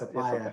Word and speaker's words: Suppiah: Justin Fox, Raj, Suppiah. I said it wrong. You got Suppiah.